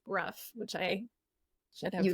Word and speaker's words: Brough: be here Joe I name is actually pronounced Bruff which I should have